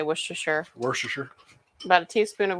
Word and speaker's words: Worcestershire: How do you say Worcestershire? Worcestershire. About a teaspoon of Worcestershire.